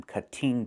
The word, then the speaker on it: cutting: We cannot say I'm cutting the tree. It's pronounced cutting. Move the stress to the first syllable, cut. Not cutting, but cutting.